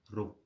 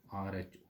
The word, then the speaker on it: rho: Now this constant is again a symbol is used and that symbol is called rho. That symbol pronounce इसको करना है rho, RHO, rho L upon ए।